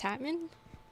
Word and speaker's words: Tatman: But I've been right. It's Tatman. I'm telling you, of all things to worry about, I was like, wait a minute. Have I been saying their name wrong? Emphasis the tat in the man.